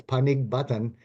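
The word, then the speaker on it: Panigbatan: That is exactly almost how it's pronounced. It's Panig Batan, but if you make that G a C, now we're at Panic Button.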